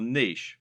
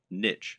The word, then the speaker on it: niche: correct internet business parlance what is your niche or niche as some people pronounce it a niche is a